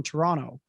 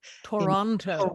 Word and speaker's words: Toronto: in canada is that you do not pronounce that second t toronto toronto it's toronto right and